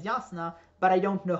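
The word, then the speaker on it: Jasnah: Warren pronunciation is that the letter J is pronounced yeah instead of J uh so I know that yasna is yasna but I don't know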